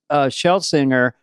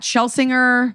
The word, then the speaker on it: Schlesinger: What's the most common mispronunciation, or is there one? What Dana just did deliberately or not? I can't tell if it's a bit. No, I was kidding. Okay, thank God. It's Schlesinger, Schlesinger, but I don't even